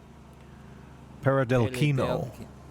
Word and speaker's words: Peredelkino: forgive me for how badly I butchered the pronunciation. Peredelkino.